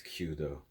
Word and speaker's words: Kyūdō: I think it's Kyūdō. I don't think there's an extra O sound.